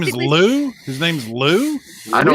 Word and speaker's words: Ryu: So his name when he says in Japan, it will be Ryu with an L. Like you don't pronounce it with an R. So His name is technically- Lou.